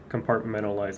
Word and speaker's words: compartmentalize: compartmentalize Oh so also when you pronounce this word the second T is soft compartmentalize but almost sounds like an N compartmentalize so when you compartmentalize